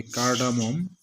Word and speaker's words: cardamom: তারপরটা হলো ছোটো এলাচ, এটা হবে কার্ডামম, CARDAMOM, কার্ডামম। এই যে ব্র্যাকেটে আমি দিয়ে দিয়েছি উচ্চারণ, কয়েকারে কা, এই যে ডয়ের আকার ম, এটা ম, ঠিক আছে, ম এবং ম, কার্ডামম। আচ্ছা, তারপর হলো দারুচিনি বা